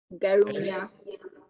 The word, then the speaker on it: Garunja: I don't know if Garunja is the correct pronunciation of your surname. Garunya. Garunja, right. Yeah.